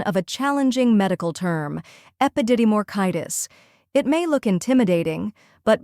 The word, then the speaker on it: epididymoorchitis: The correct pronunciation is epididymoorchitis. First, we have ep, which sounds like the ep in episode.